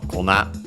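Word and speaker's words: 粉: More often you'll find it in its extended form, kona, accent on the last syllable, which means flour, as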